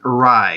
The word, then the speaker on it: Rai: the thumbnail with, Shaheeli Rai, and it's pronounced rye like rye bread, rye the drink.